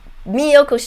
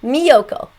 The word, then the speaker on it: Miyoko: Miyoko's cheese. Memorize the name, okay? Miyoko, it's M-I, and then Yoko, Y-O-K-O. Like Yoko Ono, do you remember her?